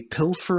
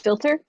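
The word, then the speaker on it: philter: also brings a what is known as a pilfer of love a filter a what filter ph is it er why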